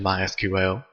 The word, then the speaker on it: MySQL: as you can tell I've been calling it MySQL that is the correct pronunciation however it is also commonly called my